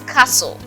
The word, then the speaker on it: castle: is Castle not Castle it is Castle so T is absent as you can see